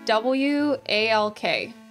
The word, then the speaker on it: walk: Say W-A-L-K. It has an L in it, so you say walk.